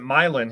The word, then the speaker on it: Milan: not quite sure see we pronounce it milin here in Ohio but it's probably Milan in Michigan um I'm not sure